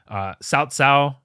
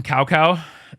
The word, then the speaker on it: Cao Cao: Cao Cao, I'm not pronouncing it correctly either. They called him Cow Cow in the original games, and it just sounded hilarious.